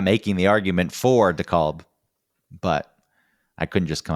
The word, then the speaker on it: DeKalb: Oh, all the different DeKalbs? Yeah, up here it's pronounced DeKalb. Yeah. The L is pronounced down there. They've just dropped the L.